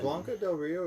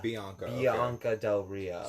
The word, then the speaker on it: Bianca Del Rio: Is Blanca Del Rio, is that from the movie Blanca? No, Bianca. Bianca Del Rio.